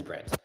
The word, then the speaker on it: Brent: Is it Brett Saunders? I think it might be Brett Saunders. I always get his name confused. Who is a really Brent? It is Brent.